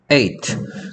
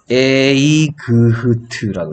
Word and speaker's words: eight: 에이그흐트라고 했어. 에이그흐트. 근데 GH, IGH에서 GH는 원래 그흐 소리였는데 둘 다 힘없는 소리라서 없어져 버렸어. 그래서 에이그흐트가 아니고 그냥 읽을 때는 뭐라고?